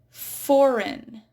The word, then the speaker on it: foreign: Foreign. It's not foreign, foreign. It's a silent G.